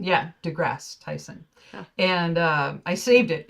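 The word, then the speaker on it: deGrasse Tyson: is that how you say his name Neil degrass Tyson yeah degrass Tyson and uh I saved it it's a Tik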